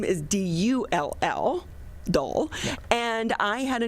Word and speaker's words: Dahl: They actually pronounced it Dahl, D-O-L-L, but I wouldn't allow them to spell it that way. So I spelled it D-A-H-L.